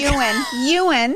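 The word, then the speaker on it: Yuan: So then the founder of Zoom, I don't want to mispronounce his last name. His first name is Eric. Well, hello, Eric. Ewan. I think it's Ewan. That's right.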